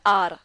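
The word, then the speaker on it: hour: यहां एग्जांपल है एन आर तो आर में h लिखा हुआ है लेकिन एच यहां पे साइलेंट है ए का प्रोनंसिएशन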